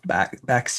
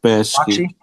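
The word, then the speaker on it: Bakshi: And then then it was Ralph Baxis. Is that how you say his name? Ralph Baski.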